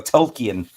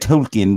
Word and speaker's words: Tolkien: Tolkien. That Tolkien wrote.